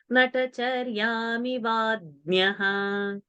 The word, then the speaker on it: नटचर्यामिवाज्ञः: सन्तन्वतो नट्टचर्यामिवाज्ञः सन्तन्वतो नटचर्यामिवाज्ञः That your nya pronunciation is has to be changed. Natacharyami vadnyaha.